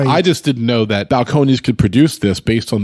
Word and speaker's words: Balcones: to order a nickel and balconies rhymes with cajones so there you go